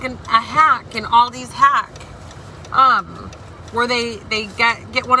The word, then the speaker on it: Aldi: It's an Aldi's group. I know I'm saying it wrong. Me and my family pronounce it Aldi's, but I know it's Aldi.